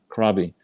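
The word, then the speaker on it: Krabi: Uh, I was briefly I I was in Thailand and I there's a place it's spelled K R A B I Krabby.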